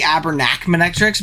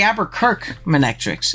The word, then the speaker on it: Aberkirk Manectrix: Let's watch Ravi versus the I keep saying the Abernac Manectrix because I don't read and I just like created the word in my head. It's the Aberkirk Manectrix. I said it wrong for like literally the last like 2-3 months since they've been dropping replays here.